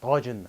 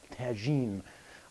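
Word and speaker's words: Tajine: this is called Tajin I'm going to pronounce this correctly it's called Tajin and not Tajin a lot of people on in the west they call Tajin so this is a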